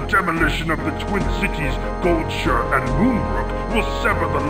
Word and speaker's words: Goldshire: has retconned this and I am fairly confident it is pronounced gold Shire now but I could be